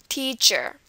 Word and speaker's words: teacher: the word photograph so it's going to be on the first syllable teach teacher okay the next one Japan